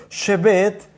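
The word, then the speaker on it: שֶׁבֶת: Y también está la palabra que es exactamente, se escribe exactamente igual que Shabbat, pero es con las vocales E, Shebet, y Shebet significa morar o asentamiento.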